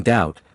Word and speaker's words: doubt: Examples are the K in no, the B in doubt, the T in often, although this is becoming modified in certain dialects, and the P in psychology.